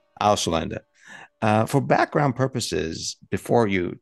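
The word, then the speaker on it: Ausländer: Could you pronounce it so that we get the German right here, please? Auslander. Auslander.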